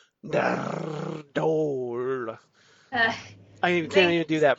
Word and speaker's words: Nardole: now officially in the companion, Matt Lucas as Nardole, or as Capaldi likes to pronounce it, Nardole.